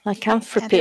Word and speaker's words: lycanthropy: Is that how you say that word? Lycanthropy? Lycanthropy, I think. Yeah, that's what it's right, yeah. Rhymes with philanthropy.